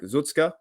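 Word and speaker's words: Tuszka: of their weakest areas we did have derek zutzka that's how you pronounce his name uh he was now being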